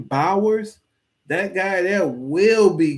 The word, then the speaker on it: Bowers: buyers buyers that's how you say his name Bowers that guy there will be good in the